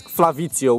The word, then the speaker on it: Flavizzio: It's Flavizzio with double Z, just like pizza, you know.